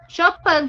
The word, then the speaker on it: Chopin: Chopin que fala, tá? Esse. Muito bem, Chopin. Mas se escreve Chopin.